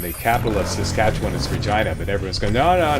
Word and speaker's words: Regina: I think way back in the beginning of the walkthrough when I was pronouncing it Regina, which is correct. Everyone's going, "No, when it's a girl's name, you don't you pronounce it Regina."